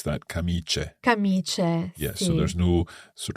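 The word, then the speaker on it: camicie: absolutely we pronounce that kamiche yes so there's no sort of stress on the eye there c-a-m-i-c-i-e but but I is simply there making the C soft although they even do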